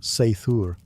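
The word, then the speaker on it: seiðr: Sometimes it relied on magic, specifically a mysterious practice called cider, pronounced seithur, which was part sorcery, part spiritual therapy, and part my ex won't return my runes.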